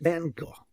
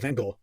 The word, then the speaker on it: van Gogh: at mango and gold vincent van gaal van gaal van gaal i've heard so many different pronunciations i'm gonna go with van gaal he was born in